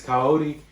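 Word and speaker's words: Kaori: two of them actually so this one is coyote as that's how you say it from your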